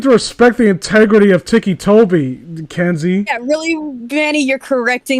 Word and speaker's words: Ticci Toby: spelled like what else how else would you pronounce it Ticky Toby just it doesn't well to be fair I've